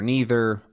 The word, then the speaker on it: neither: a few notable ones, like mantra, mantra, either, either, then neither, neither, aunt, aunt. All of these are totally acceptable pronunciations in pretty much any part of the US.